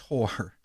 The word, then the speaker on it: Hoare: his girlfriend Shauna Hoare, Hoare, and it is pronounced Hoare.